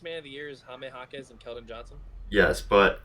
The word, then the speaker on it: Jaime Jaquez: is Keldon Johnson and Jamie Jaquez. I'm pronouncing it wrong, aren't I? Junior? Jaime Jaquez? Okay. It's silent, that's right, because he's Spanish.